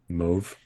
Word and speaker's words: mauve: u v e we we pronounce it um move move oh that might be